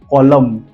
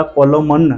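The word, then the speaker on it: column: First word is कॉलम। अब देखिए spelling COLOMN। हमने कॉलम तक ही पढ़ा, कॉलमन नहीं पढ़ना है, डायरेक्ट कॉलम।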